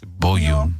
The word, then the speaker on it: Bouyon: It's spelled Bouyon. It's Bouillon.